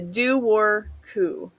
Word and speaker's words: Dobhar-chú: And that is the Dobhar-chú. Now, this is the one I'm very thankful they had a pronunciation for because I would not have said that looking at the spelling.